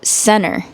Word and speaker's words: center: Did you notice how when I said center, I did not pronounce the letter T? I said center.